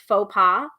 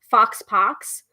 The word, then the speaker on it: faux pas: I mean, like I mispronounced faux pas, fox pox for years.